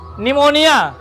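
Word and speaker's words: pneumonia: P silent रहता है। जैसे पहला शब्द आया निमोनिया।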